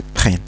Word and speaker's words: prennent: Faites attention, ici le E il se prononce E parce qu'il est suivi par deux N. Alors ils prennent.